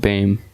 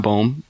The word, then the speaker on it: Bame: Well, how do you say his name? Bo? Caleb Bame. Damn. It's not Bohm.